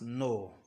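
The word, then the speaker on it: know: All right, you notice in the word no, K is silent. Therefore, it sounds no.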